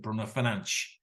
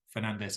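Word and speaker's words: Bruno Fernandes: of our comment appar he pronounced it Bruner fanch which you've never heard in English commentary so then you've got make that decision do I go fanch or do I go Fernandez as we most of us would say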